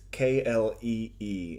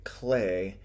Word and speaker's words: Klee: for you there is KL e e and that you would think that would be pronounced Klee but it's more accurate perhaps to say clay he was born in